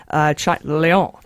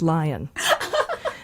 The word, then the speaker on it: Lyon: Lyon. I like that. Actually French. It's not pronounced lion. Wait, Leon? L-Y. Oh. Lyon. I like it, yeah.